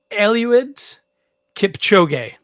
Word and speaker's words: Eliud Kipchoge: I believe it's pronounced Eliud Kipchoge.